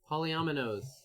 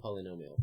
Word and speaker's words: polyomino: Newdow and hello hello polyomino not polynomial polynomial would be okay Polly Polly nom nom oh I've been creepy I've been tweeting no it's polyomino I've been doing it